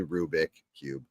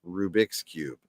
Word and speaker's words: Rubik's Cube: it probably is actually Rubik Cube someone said not the look up Rubik's Rubik is the Creator's name so it is his Cube so it's pronounced Rubik's Cube okay so I'm a